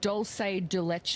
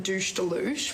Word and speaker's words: dulce de leche: It's dulce de leche. I just made my very own douche de louche, which No.